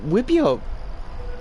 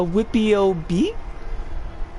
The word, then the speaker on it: wipEout: some more uh wipio wipio is uh that's i'm convinced that's how it's pronounced you we could clearly see i mean actually it's more of like a a whippy ob i'm pretty sure that's a beat there like it like he